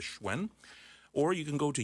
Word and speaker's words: Hsuen: Facebook friend at HS uen is how you pronounce or spell my last name and pronounce it as schwen or you can go